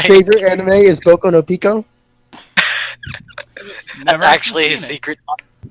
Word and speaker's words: Pico: You know it's Pico, right? I've always heard it pronounced Piku.